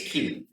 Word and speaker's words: Chi: Greek letter key and some people will say Kai but it's pronounced key Kai is actually a Greek word but the letter is key and this P looking